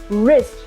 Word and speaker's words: wrist: does it say see when w comes before R which means whenever we have a combination of w and R the W is silent yes confused what do we call this this it is a brid wrist no we call it wrist right did you notice